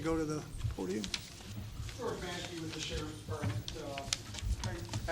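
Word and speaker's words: Maschke: Pronounce it again. Maskey.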